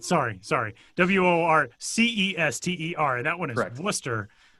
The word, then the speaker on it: Worcester: W O R C E S T E R.